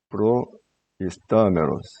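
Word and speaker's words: προϊστάμενος: 모음을 이루는 게 아니라 이 두 모음을 분리해서 읽으라는 뜻이에요. 분리해서 발음하라. 프로 이스타메로스.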